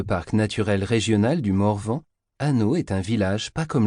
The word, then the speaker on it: Hanau: Hanau se prononce Hanau, c'est comme ah non.